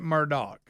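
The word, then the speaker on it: Murdaugh: I watched it it looks like it spelled murdal but they call it Murdock his name looks like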